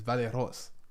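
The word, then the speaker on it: Vallejos: j o s is valos that's how you say it I'm just I'm trying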